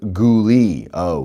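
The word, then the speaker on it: Goulais: Saint Marie Ontario and the town of Goulet River appropriately pronounced goolie goolie goolie goolie the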